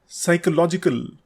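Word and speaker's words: psychological: याद रखें कि ऑटम में एन साइलेंट होता है।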